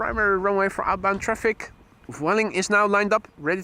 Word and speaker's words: Vueling: Optimus says, I like to pronounce Vueling to rhyme with fueling.